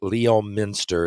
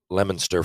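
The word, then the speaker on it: Leominster: moved to you moved to lemonster right spelled Leo Minster if you if you were to pronounce it out but it's pronounced lemonster for real so and there's a big hockey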